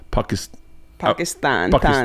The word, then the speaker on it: Pakistan: And so, and all I knew how to do was pronounce it properly. And that was Pakistan.